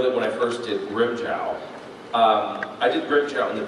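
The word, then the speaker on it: Grimmjow: And so I had always called him Grimjow, or Grimjoe. And when Wendy was directing me in the anime, she's like, no, you need to pronounce it Grimjow, okay? And so I pronounced it Grimjow.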